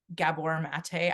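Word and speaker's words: Gabor Maté: And I love the book Scattered Minds by Gabor Mate.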